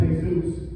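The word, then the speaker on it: Jesús: This is another first grader, and it's actually pronounced Hey-Zeus.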